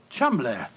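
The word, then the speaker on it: Cholmondeley: is in no way pronounced the way it is spelled. Oh, Joe, I never thought of that. Chuml.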